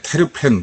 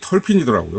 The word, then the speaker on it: terpene: 사람들은 이걸 갖다 뭐 그냥 읽을 때 테르펜, 뭐 테르펜노이드, 뭐 저번에 얘기처럼 트루펜틴 막 이런 식으로 읽는데, 이걸 그냥 그대로만 읽으려니까 근데 이 발음이 털핀이더라고요. 그래서 저는 앞으로 이제 발음을 그냥 이 털핀으로 하겠습니다.